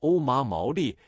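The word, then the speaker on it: お守り: 日本人的读音叫做欧麻毛利，是一种木片制成的护身符。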